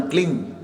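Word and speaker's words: क्लीं: इसको भी लोग क्लीम बोलते हैं, बट उच्चारण क्लिंग, क आधा, ल बड़ी की मात्रा, अंग। बिंदी को मां नहीं बोलना, क्लीम नहीं बोलना।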